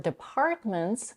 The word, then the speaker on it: departments: In the word departments, she slightly aspirates the p in the second and stress syllable.